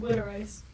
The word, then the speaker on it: water ice: pronounced Witter Ice. It's Witter. Water ice. Those are like the hardcore Philly accents.